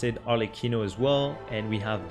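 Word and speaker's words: Arlecchino: next up we have arlikino this one is an Italian word so there's not going to be any particular French pronunciation well Proline probably pronounce it alequino as well and we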